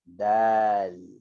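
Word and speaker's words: دال: Kemudian selepas kha, kita ada huruf dal. Dal, alif, lam. Dal. Ejaan bahasa Melayu dia D-A-L. Macam kuah yang kita makan roti canai tu. Tu nama dia kuah dal. Dalun, dal. Okay, ni nama dia dal.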